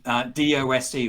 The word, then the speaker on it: DOSE: Also, I wrote down, you talk about DOSE, or dose. I don't know if you pronounce it as dose. Yep, it is a dose.